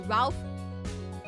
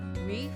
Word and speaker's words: Ralph: Ralph. Sorry. I know I I'm mispronouncing his name cuz I know his name is not Ralph. I think it's pronounced like in the French way. Reef.